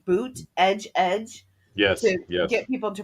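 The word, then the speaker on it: Buttigieg: bootage edge you know where he had to say boot edge edge yes get people to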